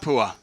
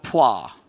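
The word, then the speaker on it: Phua: path with the pronunciation it's not pool its it's plah plah yeah Oh fight that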